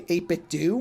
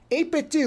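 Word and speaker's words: 8BitDo: So for that bag, I got I think it's supposed to say 8-Bit Do. I think that's the name of the company is how it's pronounced. 8-Bit Do, which normally I've used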